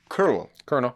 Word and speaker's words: colonel: It doesn't spell. It doesn't pronounce the way you spell it.